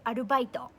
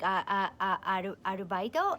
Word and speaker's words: アルバイト: So for instance, there's a word in Japanese called arubaito.